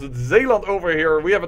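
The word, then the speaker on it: Zeeland: I should say because that's the way to pronounce it zaland over here we have a tradeit dispute against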